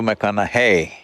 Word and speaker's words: McConaughey: the second name mcconnell hey rhymes with what would madonna say so so i know you're matthew mcconaughey but do i know